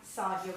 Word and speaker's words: Saydia: and design so as you can see I'm sardia it's pronounced s my dad spelled it wrong um